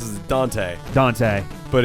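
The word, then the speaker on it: Dont'a: believe or he's he goes by so he's pronounced as dante dante but it's spelled uh yup don't uh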